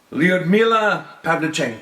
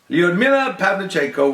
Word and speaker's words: Lyudmila Pavlichenko: could look at this name and try and pronounce it properly. For our last person that history may have forgotten, Right? Lyudmila Pavlichenko. Oh, yeah. Lyudmila Pavlichenko was a sniper for the Soviet Red Army during World War II.